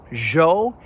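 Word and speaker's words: ĵo: Jo is kind of like the French je in Jean-Luc Picard, or that sound in pleasure.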